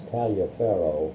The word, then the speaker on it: Taliaferro: It was based on the Tolliver episode of Crawfordville in Tolliver County. Yeah. It's Taliaferro, Yeah. but pronounced Tolliver.